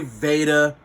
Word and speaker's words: Vata: well you guys is Vata people say Vada as somebody say Veda doesn't matter pronunciation isn't really the uh the circumstance but